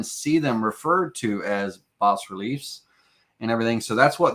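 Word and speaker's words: bas-relief: you know different terms I like the term bass relief uh boss is probably pronounced boss relief I call it Bass but boss relief b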